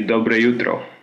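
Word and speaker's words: dobro jutro: In Croatia, they say dobre jutro, which is almost without the J in the pronunciation.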